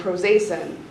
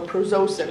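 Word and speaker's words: prazosin: Um, and then Prozacin. Proacin. Oh, Prozosin. I'm sorry, my pronunciation's off.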